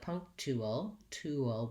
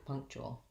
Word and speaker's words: punctual: that i mentioned earlier where often people might say it more like punk tool tool with just an ooh and you need the glide yeah oh and then lastly we end with that syllabic l it's got a little schwa before it so long short short punctual punctual and then i do think we you know that's the correct way punctual punctual but in connected